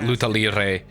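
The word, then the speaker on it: luta livre: Not lucha libre, because that's pro wrestling, but luta libre, which is how I've heard it pronounced, is from Brazil and emphasizes leg locks.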